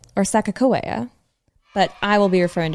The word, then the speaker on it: Sacagawea: It is the famous Sacagawea. And if you're like, who? Commonly pronounced Sacagawea or Sacagawea, but I will be referring to her as Sacagawea for reasons I will explain in the next episode.